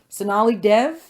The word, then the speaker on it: Sonali Dev: So we are thrilled right now to have author Sonali Dev. Did I pronounce it right?